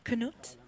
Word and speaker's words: Knut: explaining how to say Knut's name. Yes, I feel like we finally Yeah, might have it. Knut, if I'm saying it correctly. yeah, Knut's name. And you hold the U.